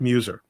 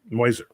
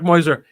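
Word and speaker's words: Meuser: argument in passadena and Mark Muer moiser this is actually how his name is pronounced Mark moiser who ran for Senate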